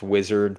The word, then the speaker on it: Uizard: Figma Make or UIzard, which is pronounced wizard, but it's spelled like UIzard, um which is a different tool.